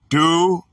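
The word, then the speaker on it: δοῦλος: The word is doulos, pronounced doulos, from Greek number 1210.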